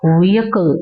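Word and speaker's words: vehicle: வெஹிக்கிள் அப்படின்னு சொல்லுவோம் இல்லையா எல்லாருமே வெஹிக்கிள் அப்படிதான் சொல்லுவோம். பட் அது ப்ராப்பர் ப்ரோனௌன்சியேஷன் கிடையாது. வியக்கல் அப்டின்னுதான் சொல்லணும்.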